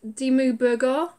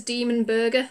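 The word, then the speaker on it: Dimmu Borgir: I can never pronounce D mu burger someone tried to tell me to pronounce it as demon burger so I'm gonna say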